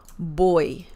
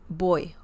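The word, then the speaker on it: voy: boy uh remember that the V sound in Spanish is very similar to the b as in bell sound so boy boy if you say boy it's okay people will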